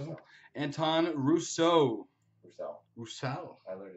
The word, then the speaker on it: Roussel: Russo? Roussel.